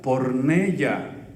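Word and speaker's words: πορνεία: Y la palabra fornicar es una palabra del griego que se pronuncia porneia, con Y.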